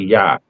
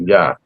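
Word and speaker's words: Iah: So the I is really a Y.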